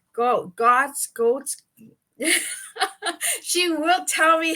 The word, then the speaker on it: Goetz: So pretend there's no O. Oh, that's right. Want to try it? Goetz.